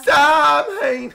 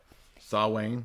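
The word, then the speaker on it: Samhain: Saween. Sam Hain. Yeah. Sam Hain. That's not how you say it. That's Frodo. I know. Sawayne.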